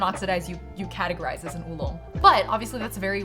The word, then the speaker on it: oolong: But Tieguanying is a type of oolong, or oolong, as I think I've heard Americans say it.